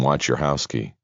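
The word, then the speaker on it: Wojciechowski: It sounded like she pronounced the name, "Watch your house key."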